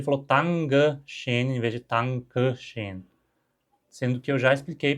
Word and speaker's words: Dankeschön: Então, a pronúncia mais neutra, digamos, Dankeschön. Dankeschön. Sons desvozeados. O T e o K são desvozeados.